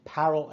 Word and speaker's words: parol: also called parallel evidence actually I think the proper pronunciation is parallel evidence some reason I can't bring my tongue to say it that way so it's parole evidence but it's not parole like you get let out of jail get let out